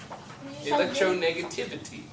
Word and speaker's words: electronegativity: Electronegativity. Negative. Tiv. Tiv, not div. Tiv.